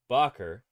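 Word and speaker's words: Bakker: way I did uh Bob Barker pronounces his name bocker but apparently he's actually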